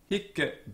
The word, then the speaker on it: hic: Note that hic is a heavy or tense syllable, and the Roman grammarians tell us that the C on the end was doubled, it's a double consonant. This has the effect of tensening up the vowel, making it into a heavy syllable.